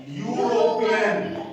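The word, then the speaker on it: European: क्या लिखा हुआ है यूरोपियन यू इसका उच्चारण आ रहा है क्या यू तो यर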